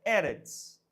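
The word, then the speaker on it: ארץ: Se pronuncia ers. Es. Terra em hebraico é erets.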